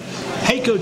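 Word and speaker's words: HAECO: Heiko tournament.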